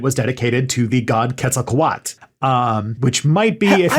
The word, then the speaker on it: Quetzalcoatl: dedicated to the god quetzalcoat um which might be if you know if you're doing anything wrong i've been pronouncing that wrong too it's those l's at the end yes so that's that's